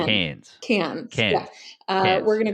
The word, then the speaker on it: Cairns: Yeah, but no R. Don't pronounce it R. So it's Cairns.